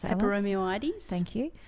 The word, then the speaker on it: Peperomioides: Peperomioides. Thank you. Kind of just say that last bit really fast.